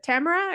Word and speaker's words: Tamara: lady with me today her name is uh Tamara or is it Tamara or Tamara because I've heard it pronounced both ways so have I and everything in between it's Tamara you got it right the first time congratulations